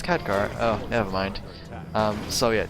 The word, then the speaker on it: Khadgar: gars pipe of insight I've always pronounced it could share but ever since I've watched the movie it was like oh wait that's Khadgar oh never mind so